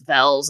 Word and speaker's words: Velz: my last name is vels and so some people will just think my last name is actually vez and I'm just pronouncing it wrong or something oh don't